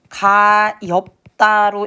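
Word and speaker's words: 가엾다: 자, 우리 한번 발음을 해 보면 될 거 같은데 여러분 이것은 어떻게 읽죠? 가엽다로 읽기 때문에 지금 비읍시 중에서 뒤에 친구 시옷이 탈락했어.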